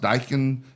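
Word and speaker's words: Daikin: And like we said before, they have that um it's spelled D- AI KN. He says it's pronounced Dykan is the um air conditioning company. They're gonna have a big Dykin giveaway over the summer.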